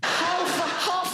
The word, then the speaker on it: half: Half a hour. Half, even half has an L in it. So half a hour. Half a hour. Yeah, fair enough. Why is there an L?